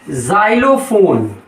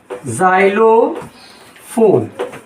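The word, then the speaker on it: xylophone: और जैसे जा है, तो एक तो है जाइलोफोन, जाइलोफोन, इसको हम कैसे प्रोनाउंस कर रहे हैं?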